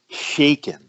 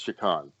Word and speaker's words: Shakan: in the world um he pronounces shakan shaken Shen really shaken I'm like dude it's there's no way you can't it's not shaken yeah but it's his character so sorry it's shakan it's it's an amazing